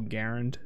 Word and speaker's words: Garand: everyone says Grand, but yeah, by the guy's own, like the actual Garand guy, he says Garand.